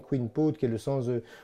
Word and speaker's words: Kouign Pod: Alors, chumpote, hein, on prononce chumpote, donc c'est le mot queen, hein, K-O-U-I-G-N, queen pot, qui est le sens de gâteau.